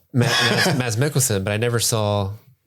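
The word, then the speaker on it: Mads: me excuse me um Mass Mickelson do you know you don't pronounce the d if they ever do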